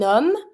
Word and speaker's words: homme: It's always mute. You're never going to pronounce the H. That's the first letter of the word. And then, because we don't pronounce the H, you have a vowel after that. So, you're just going to be able to link it as if there was no vowel or no H at all.